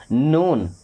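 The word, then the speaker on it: known: silent होता क्या पढ़ेंगे नून क्या पढ़ेंगे नून नाउन नहीं पढ़ेंगे क्या पढ़ेंगे नून यहां पे डब्ल्यू भी साइलेंट ही होता है ओके क्या हो जाएगा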